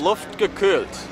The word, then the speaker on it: Luftgekühlt: What is it called? Pronunciation, please. Luftgekühlt. Exactly that.